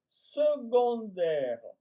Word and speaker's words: secondaire: Secondaire, ça s'écrit S e C. O mais on prononce secondaires.